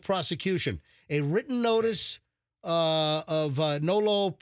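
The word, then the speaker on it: nolle pros: A written notice of nolo. How do you say that? No pros.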